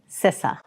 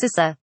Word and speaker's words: CISA: a hotly debated topic and that is the pronunciation of my agency it's sissa seriously it's not that hard it is pronounced sissa but seriously i am really honored and thrilled